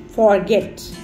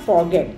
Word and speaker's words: forget: F-O-R-G-E-T, forget. That's again a wrong pronunciation. It is not forget, it's forget. Forget, not forget.